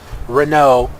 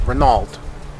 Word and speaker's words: Renault: like I try to pronounce Renault properly instead of calling it renald okay so with that